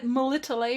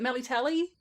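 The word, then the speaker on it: Melitele: talking about the pronunciations shawnee just said melitta lay or something or malatelli i think she said melly tally and i mean i guess you can kind of tell that i don't agree with that pronunciation i always say my little which is a pronunciation that they use in other games as well and you're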